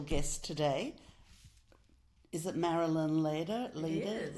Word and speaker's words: Leder: Is it Marilyn Leader? It is. Leader? Yeah. Leader. Let me start again. Okay. This How do you leader is pronounce?